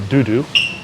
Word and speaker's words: Dodo: called bourbon uh but which the locals all call Dudu which is the French way of pronouncing dodo because of a dodo